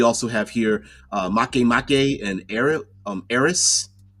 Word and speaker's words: Eris: Haumea is also a dwarf planet, and then we also have here Make and Eris, not Eros, Eris, and there's a ton of other ones.